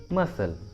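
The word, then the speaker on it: muscle: अगला एग्जांपल देखिए मसल, मसल, देखिए इसमें भी एस और सी दोनों एक साथ है तो सी को प्रोनाउंस नहीं करेंगे, इसलिए उच्चारण होगा मसल, मसल।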